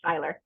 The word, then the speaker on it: Seyler: I was called sailor girl but it's actually Styler so all that teasing back in high school was for not because they couldn't pronounce it correctly or your married name huh